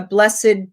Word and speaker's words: blessed: blessed that's another one can be a verb but if you see it a blessed day a blessed event then you use that extra syllable um aged can be